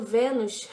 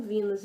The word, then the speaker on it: Venus: Eu não falo Vênus, essa sombra, porque não tem acento. E as americanas falam Venus, então eu acredito que elas pronunciam certo. Então eu copio.